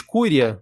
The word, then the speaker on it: curiae: Amicus curia. Porra, tá aí. Nunca tinha ouvido esse termo, não. Curi, né? Quando é AE, é curi. Curi, o então. é mudo, né? Amicus curi, então, né?